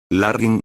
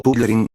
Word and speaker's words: Larrin: Larrin, o Pullerin, como lo pronunciaban mal algunos humanos, le dirigió a Darren una mirada curiosa.